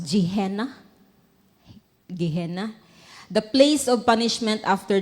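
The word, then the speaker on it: Gehenna: No the lake of fire or saan pag-pronounce jeihena.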